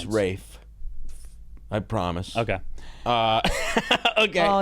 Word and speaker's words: Ralph: Rafe in this. Fiennes, and you don't pronounce CL. Ralph. It's Fiennes. Rafe.